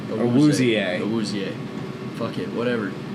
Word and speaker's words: Awuzie: Chidobe Azue. That's not even his name. Awuzie.